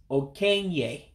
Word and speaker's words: okenye: So it's okenye, elderly. Okenye, elderly. Now, remember again, the letters that look like E's in Igbo, you pronounce them as an A.